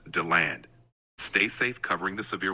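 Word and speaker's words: DeLand: Orange City how do you say that that's pronounced Dand stay safe covering the severe weather all right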